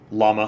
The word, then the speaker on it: Llama: I mean, I pronounce it like speakers of American English pronounce the name of the animal. Llama.